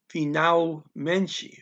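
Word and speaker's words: finalmente: stand on its own so you don't change the pronunciation just because it's part of a larger word and menchie that's just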